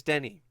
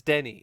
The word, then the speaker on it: Denis Villeneuve: I kept calling him Denis or Denis, but apparently it's Denny. It's Denny. It's Denny, and I'm just gonna